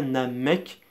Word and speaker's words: Namek: débats là-dessus, alors que ça s'écrit avec un K à la fin, donc on dit bien Namek, le K à la fin.